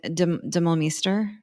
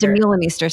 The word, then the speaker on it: Demeulemeester: the I don't know, like I don't know how to say her name, and Demolmeester, and Demeulemeester. Demeulemeester, sorry, thank you, Yeah.